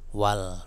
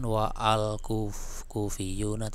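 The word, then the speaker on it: والكوفيون: ada pendahulunya yaitu wawu, maka bacanya wal, bukan wa'al, bukan wa'al kufiyuna, tapi langsung wal gitu kan, hamzahnya tidak terbaca harokatnya.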